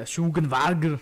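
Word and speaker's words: Matthias Schweighöfer: Yeah, Schugenwager.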